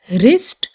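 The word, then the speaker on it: wrist: डब्ल्यू, तो इसमें W silent है। रैपर, रैत, रीत, wrench, ring, road, रिस्ट, Regal, wrinkle, wrestling, playwright.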